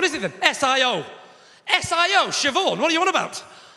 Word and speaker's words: Siobhan: are you talking about there's no v in siobhan where does the h go then it goes after the b obviously are you talking about bh is pronounced v no it's not love